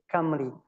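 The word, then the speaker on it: Cymru: Uh if you if you read it possibly we read it simmeru but in in in GI we say kami.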